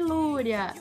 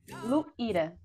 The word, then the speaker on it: Luíra: Boa noite, Lúria. Se fala Lúria. Como se fala o seu nome? Luíra. Luíra.